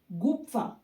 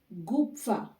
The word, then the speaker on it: gupfa: Gupfa. PF. Fa. Gupfa.